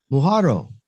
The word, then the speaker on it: Muhorro: My guest, Julio Maria, I always say your last name wrong. Muhorro. Yes. Muhorro.